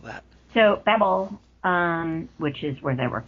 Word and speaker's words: Babel: It's Babel. It's like from the Bible.